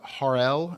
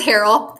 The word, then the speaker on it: Harold: decorating please welcome harl hopefully I'm saying your name right did I just butcher the last name it's Harold it's very har practiced